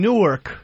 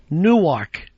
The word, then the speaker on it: Newark: My dad is from Newark, New Jersey. Yeah. And I don't even pronounce it the way he does.